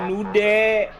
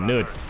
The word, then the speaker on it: Newt: Her vehicle was recently Oh, itu Town of Newt. Ya kan? Bukan Nude. Tapi kan sama aja pronunciation-nya, Newt. Mirip.